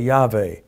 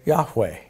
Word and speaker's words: Yahweh: If you use a modern letter Vav, you say Yahweh. If you use the ancient pronunciation Wow, you say Yahweh. It's a W sound.